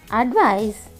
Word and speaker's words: advise: Advise, advise, advise, advise. Yeah, you are correct. The pronunciation is also different. ADVICE, advice. Here, C is pronounced as S. Advice. ADVICE, advise. Z, z, z, advise.